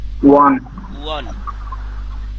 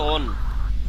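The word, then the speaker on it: 원: Korean মুদ্রার নাম কি? ওয়ান ওয়ান। অনেকে পড়ে ওন, কি পড়ে? আর এই যে কোরিয়ান ভাষাতে এখন আপনারা পড়তে পারেন, তাহলে বলেন তো উচ্চারণ কি হয়? উ, তারপরে অ, উ অ, আর নিচে নিয়ন ওয়ান। কি হয়? ইংলিশে লিখলে অনেকে ওন পড়ে আর কি, ও ডাব্লিউ এন ওন।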